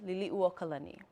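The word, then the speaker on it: Liliʻuokalani: name of one of our ali that's commonly mispronounced liliuokalani liliu means to spin or be dizzy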